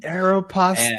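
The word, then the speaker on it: Aéropostale: worked which was uh Aeropostel at the the mall back in the day. Aeropastel. Yeah, that's how you're supposed to say it, but like I say it like that.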